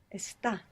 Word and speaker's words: está: We build them how we would expect to, with the exception that the accent will be on the last syllable, and it's the only verb in the entire present tense that has this characteristic.